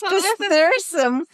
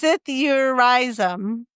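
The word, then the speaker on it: psithurism: It's Pithyrsum. It's pronounced Sithurizum.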